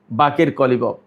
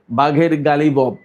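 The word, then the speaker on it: باقر قالیباف: সেই মেয়র ছিলেন এই বাকের কলিবফ। বাংলাদেশের মিডিয়ায় বা ইংরেজিতে লেখে বাঘের গালিবফ, কিন্তু আসলে উচ্চারণটা হবে বাকের কলিবফ, মোহাম্মদ বাকের কলিবফ ফার্সিতে।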